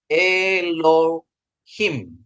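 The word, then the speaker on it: אלהים: mem ini memsopit ya Ini memsopit dia jadi bacanya eloim Ya jadi bacanya dia e loim artinya allah ya Bapak Ibu ya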